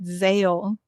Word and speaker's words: Zahel: It's spelled with an H in the book, but they pronounce it Zale in the in the audio book.